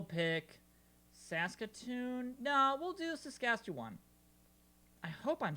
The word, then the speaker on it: Saskatchewan: Saskatchewan Sassafras.